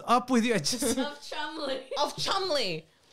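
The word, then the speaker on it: Cholmondeley: with you just of Chumley of Chumley now it's not spelled like how it's I said it but it's Chum allegedly that's how it's said allegedly that's how it's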